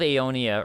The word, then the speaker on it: Aonia: Um the battle of Aonia or essentially pronounced Eonia. I looked it up. Or uh Eonia.